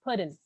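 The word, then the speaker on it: Puddin': prefer pudding no no you don't pronounce the g it's pudding don't pronounce the g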